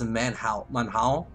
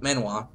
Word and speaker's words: manhwa: They use, I believe it's pronounced manhao, like it's manhao or something like that. In fact, there's a really great, Chinese, series I'm following called The Silver Gatekeeper. That's it, manhwa.